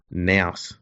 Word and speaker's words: nous: That shows the level of intellect, insight, nous that these guys have. Unmatched nous. It's next level. Yeah, and I called it nous, not nous. Is it nous or nous? Nous. It rhymes with mouse.